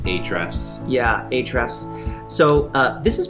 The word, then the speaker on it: Ahrefs: Ahrefs or Ahrefs? It's just Ahrefs.